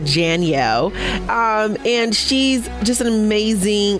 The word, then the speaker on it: Janielle: Like Danielle, but Janielle.